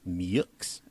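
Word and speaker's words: Meaux: main opposition is a guy named anton melton mux i'm sorry say that last name again anton melton mux how very american that a guy whose last name is spelled m-e-a-u-x is pronounced muyx that is interesting whoa yeah he's an attorney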